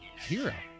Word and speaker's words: gyro: I went to and the guy pronounced it hero hero hero like with an h y elbows it's like